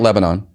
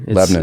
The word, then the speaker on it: Lebanon: pronounce that right not Lebanon yes Lebanon it's two syllables two SI bols yeah